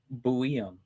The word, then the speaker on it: Buium: Fun fact, by the way, Google AI says we would pronounce his name Shai Buium. Just like Zeev Buium, who got moved for Mr.